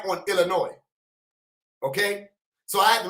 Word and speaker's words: Illinois: Illinois the first thing I thought of was Illinois which is how I wanted to say the